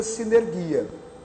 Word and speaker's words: sinergia: Se escreve sunergia, mas se pronuncia sinergia.